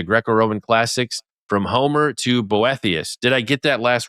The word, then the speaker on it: Boethius: An Introduction to Greco-Roman Classics from Homer to Boethius.